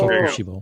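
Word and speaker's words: Kokushibo: Kokoshibo? Yes, thank you. Kokoshibo.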